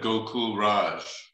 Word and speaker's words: Gokul Raj: He pronounced it, I think, not to correct you, Henry, but how he spells it, I don't know, but Rāma Swami said Gokul Raj.